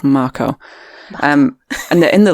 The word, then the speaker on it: Mako: the first marco reactor i'll try and pronounce it right it's not mako it's marco um and they're in